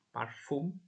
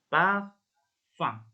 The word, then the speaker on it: parfum: Kemudian yang berikutnya ini parfum ya. Kalau kalian masih belum pernah belajar cara pengucapan dalam bahasa Prancis, ini parfum ya. Tapi ini cara bacanya parfum. Parfum. Parfum. Jadi lundi, parfum.